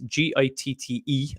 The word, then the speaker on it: Gitte: Gita Winneke. And we did, her name is Gitte, and Winneke is spelled Winneke or something like that.